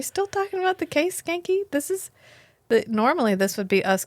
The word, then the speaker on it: Schanke: That's Officer Schanke. The C is silent. What does he say? The H is silent and the C is not.